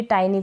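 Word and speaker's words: tiny: practice की होगी तो आप कभी भी टाइनी को टिनी नहीं पढ़ेंगे टाइनी मतलब छोटा मीन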